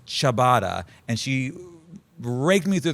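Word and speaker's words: ciabatta: Daisy pronounced it as chia. And I said, "No, it's chabatada."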